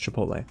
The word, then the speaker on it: Chipotle: his favorite which is Chipotle and yes it's pronounced Chipotle uh but it feels shallow it does not